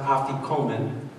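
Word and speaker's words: afikoman: matah that you wrapped in the napkin is pronounced aian and it actually it's a Greek word that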